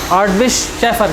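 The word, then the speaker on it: Hartwig Schäfer: इनके बारे में कहा जाता है कि इन्होंने गवर्नमेंट को, इसका मैं स्पेलिंग लिख देता हूँ, ये विग है लेकिन इसे पढ़ते विश है, हार्टविश शेफर, क्योंकि जर्मन है।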